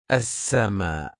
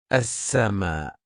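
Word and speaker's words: السماء: As-sama. As-sama.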